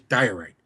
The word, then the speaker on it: diorite: It's pronounced in English diorite.